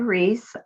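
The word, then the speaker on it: Ruiz: My name is Reese. Last name is spelled R-U-I-Z.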